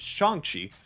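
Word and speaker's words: Shang-Chi: good support for shanxi also i might be in the rep up mispronouncing the same it's apparently it is shanxi so make sure i get that correct well you're learning and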